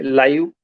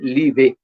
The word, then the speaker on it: live: तो जैसे ही मैंने अभी कैमरा बंद किया तो मेरे सामने लिखा हुआ है लाइव, LIVE, लाइव। यदि मैं इसे लिखे हुए के आधार पे पढ़ूं तो इसमें पढ़ूंगा मैं इसे लीवे।